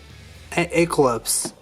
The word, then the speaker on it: Aquilops: Obviously, I got that part correct, but it was named Aquilops.